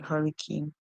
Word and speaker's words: hurricane: The E at the end is silent. This E gives power to the A to call its name, hence we hear A and not A. Cane, as in that sweet piece of sugar cane.